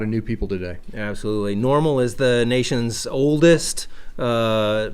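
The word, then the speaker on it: NORML: clarify about Kansas normal normal stands for the National Organization of reformation of marijuana laws so it's not normal as you would normally spell it it's n o rml so if you want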